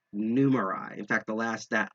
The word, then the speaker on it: Numerai: i'm pronouncing this correctly numerai uh it's actually kind of clever because it's it's a combination of number and a i numerai in fact the last